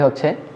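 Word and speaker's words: へ: Lesson 5-এর প্রথম রুলসটি হচ্ছে noun. এই নাউনটা অবশ্যই একটা প্লেস হবে, তারপরে এটা একটা পার্টিকেল। আমরা বর্ণমালা এটাকে হে পড়েছিলাম, কিন্তু যখন পার্টিকেল হিসেবে বসবে তখন এটার উচ্চারণ হবে এ।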